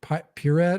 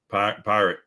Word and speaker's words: Pirate: Is that Pirat or Pirate? Pirate.